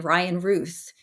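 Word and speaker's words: Ryan Routh: was just reading that the guy the Assassin Ryan Ruth that's how you say his name you know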